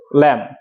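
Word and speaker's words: lamb: বি এর উচ্চারণ করেছি বি এর উচ্চারণটা হবে না সাউন্ডটা কি ল্যাম সাউন্ডটা কি হবে?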